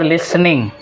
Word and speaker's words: listening: उसके बाद लिसनिंग, यहाँ पे ट बोलते नहीं है, साइलेंट हो जाता है। लिसनिंग, LISTENING, लिसनिंग।